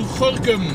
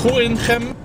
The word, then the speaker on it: Gorinchem: I'm on my way to Gorinchem, or Gorinchem, depending on where you live in the Netherlands, yeah, how you pronounce it. Anyway, I always tend to say Gorinchem.